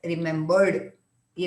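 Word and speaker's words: remembered: ये तुम्हें सिर्फ सुनाई देने के लिए मैं ड ड ऐसे प्रोनाउंस कर रही हूँ, otherwise we don't say आई रिमेंबर्ड यू, आई रिमेंबर्ड यू। तो that D becomes half silent, half you can listen it.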